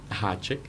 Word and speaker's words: háček: la R con la palomita arriba, o el ganchito, como le dicen, que oficialmente se dice Háček. háček.